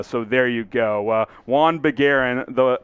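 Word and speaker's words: Juhann Begarin: this one jawan bagaran j silent again silent ish juan bagaran that is correct one aaron all right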